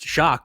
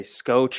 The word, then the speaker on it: Schoch: right there and then i'm learning your last name is pronounced shock which that was a